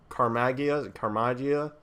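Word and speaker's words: Caramagna: And I just, between him and the letterer, Joe Carmagia, I think is how you pronounce it, because the Slott said it rhymes with lasagna. I feel so bad for those guys.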